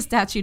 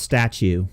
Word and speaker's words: statute: First of all, Tamara, it's pronounced statue of limitations. It is? No. Okay, I was about to believe you. That's from Seinfeld. Why we asked Donald Trump about that? Yeah, I think that was a joke on Seinfeld. They were saying it's statue instead of statute.